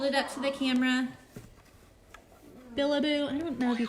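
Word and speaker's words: Bilibo: Billaboo. I don't know if you can see that. It's too hard to see. It's Billaboo, and it's spelled B-I-L-I-B-O.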